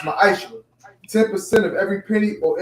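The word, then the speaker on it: ma'aser: It means 10th in the Hebrew, and it's pronounced ma'aishra.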